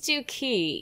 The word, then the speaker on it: Duquesne: How do you even pronounce that? It's Duquesne, you uncultured American.